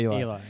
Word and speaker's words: Eli: It sounds like Ellie. It's actually Eli.